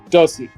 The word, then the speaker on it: Dosi: And it turns out that everybody was wrong, that it's like the word does with an E at the end. So it's actually Dosi. So that is the proper pronunciation for the beautiful name, for the beautiful artist that is Dosi.